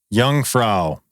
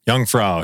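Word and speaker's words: Jungfrau: All right, we got to go to uh my uh pronunciation again. Youngfra. Youngfra.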